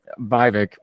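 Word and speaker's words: Vivek: santis you know even U viic rhymes with fake rhymes with cake you you can tell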